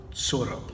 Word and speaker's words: Tsuro: off of it okay now that you me hey Soto soro and that's how you say it short Soto so